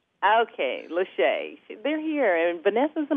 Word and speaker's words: Lachey: Lashay. Lashay. But it does look like it's spelled Lachey, so either way, I'm fine. Okay, Lashay.